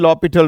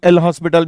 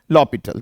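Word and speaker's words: L'Hôpital: हम एक rule use करते हैं, that is called लॉपिटल rule. Okay, जिसे काफी सारे लोग एल हॉस्पिटल भी बोलते हैं, बट इट इज a French word. It should be pronounced as लॉपिटल.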